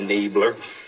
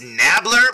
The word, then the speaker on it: Nabler: Enabler. Gary King and the Enablers. Yeah, I know it's probably pronounced Nabler because that's the way I hear everybody else say it in videos, but you know what?